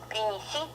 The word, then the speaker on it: принеси: For them, we press our muscles when we pronounce lips and muscles of the mouth, we press them, we tense them, we make them tense. And this is how we make this soft pri, не, si, не,